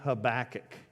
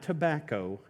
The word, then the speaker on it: Habakkuk: got a prophet named habakkuk not tobacco habakkuk depending on how you say it in your accent sometimes when you're talking about habakkuk they think you're talking about smoking habakkuk cries out to